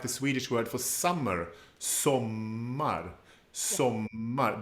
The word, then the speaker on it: sommar: There's also the stress is on the first syllable, but the O is short. We have a double M that becomes part of that strong part of the word, sommar.